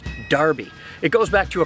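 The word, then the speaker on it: Enroughty: Probably the most famous example of a really weirdly pronounced name is how the name E-N-R-O-U-G-H-T-Y in Rufty is actually pronounced Darby.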